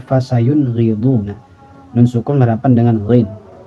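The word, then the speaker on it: فَسَيُنْغِضُونَ: Fasayun riduna. Jadi tidak dibaca fasayun riduna atau fasayun riduna. Apalagi fasayun riduna. Masih ada yang seperti itu ya. Jadi dibunyikan n-nya itu jelas tanpa dilamakan. Fasayun riduna.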